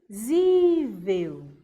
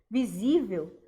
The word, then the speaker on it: visível: Eu tenho visível. Opa, peraí. Visível me parece que está com um acento na penúltima sílaba.